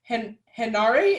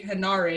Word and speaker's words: Henare: So I've been slowly teaching myself to say Henare because that's how it's spelled.